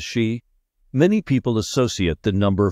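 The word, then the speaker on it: 四: In Japan, number 4 and the word death are both pronounced as shi.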